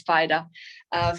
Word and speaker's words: Fida: I was always pronouncing it Fida, but it's Fida, for a couple of years now.